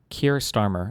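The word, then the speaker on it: Keir Starmer: Trust trust trust sunnack was for about two years and then Kier Starmer is how you say his name.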